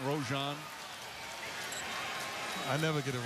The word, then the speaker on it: Rajon: his second personal everybody mispronounces his name back when he was at school he said teachers used to mispronounce his name all the time rajon rojon i never get it